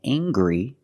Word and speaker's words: angry: Anger is a noun, and angry is a description. I can say he's very angry. We use the nasal sound, plus the hard G.